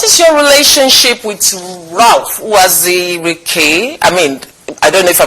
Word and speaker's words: Uwazurike: Okay, so what is your relationship with Ralph Uwazurike? I don't know if I pronounce it. Uwazurike, yes, that's his name.